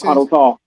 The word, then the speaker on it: Molotov: Uh Mallet cocktoff. A mal molotoel cocktail or whatever that is. Molotov Molotov cocktail cocktail.